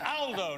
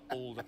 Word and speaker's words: Aldo: he picked me up but it's Aldo not older Aldo's a very British pronunciation in Italian uh good to see